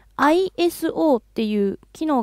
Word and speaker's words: ISO: いうことですね世界的には ISO ですね磯と読むのは 2 本だけのようですふーんはいじゃあ分かりました ISO と呼びましょうで